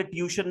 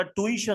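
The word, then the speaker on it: tuition: दूसरी बात यह ट्यूशन नहीं होता। ट्वीशन होता है। ट्वीशन टी यू आई टी आई ओ N spelling भी गलत है और प्रोनंसिएशन भी गलत है। इट इज प्रोनाउंस्ड ट्विशन और इसके अंदर दो बार ये आता है।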